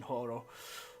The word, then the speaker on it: horo: It's going to be so hard to actually pronounce the H in horo.